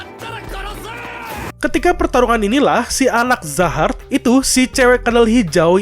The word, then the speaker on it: Zahard: Gue juga nggak tahu ya manggilnya Jahat atau Zahard. Gue baca di translate Inggris itu namanya Jahat, tapi di kolom komentar pada bilang namanya itu Zahard. Cara bacanya itu Zahard.